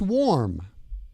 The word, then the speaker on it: warm: In this word, the A-R in warm sounds like or. Or. Warm. It's warm. So W-A-R-M sounds like it should be spelled W-O-R-M. Okay, so warm sounds like an O-R sound.